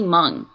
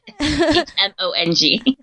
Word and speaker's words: Hmong: But now I know it's silent.